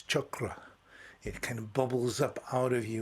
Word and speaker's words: chakra: it yourself by saying expressing the word chakra and see how the energy enters your body and where it goes or say it uh in a more Centric pronunciation weighs properly should be properly expressed which is chakra it kind of bubbles